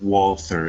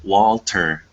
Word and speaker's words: Walther: was about to say it's not pronounced Walther it's it's pronounced Walter as the Russians or